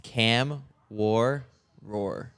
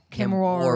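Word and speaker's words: Kamworor: We got a pronunciation guide on Cam War. It's Cam War Roar. Kim Roar.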